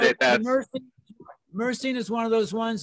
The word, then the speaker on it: myrcene: It's spelled M-Y-R-C-E-N-E.